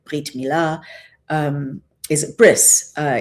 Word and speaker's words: bris: Uh here I give him my covenant brit like brit milah um is a bris uh is how it's pronounced in Yiddish.